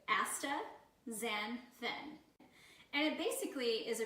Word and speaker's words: astaxanthin: word for you so we're gonna pronounce it for you asta Zen thin and it basically is